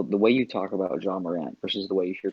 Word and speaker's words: Ja Morant: they have their Jay Morant. I believe that's how you say his name. Oh, Ja Morant.